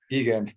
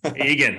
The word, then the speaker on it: Egan: Did I pronounce that correctly? Egan. Egan.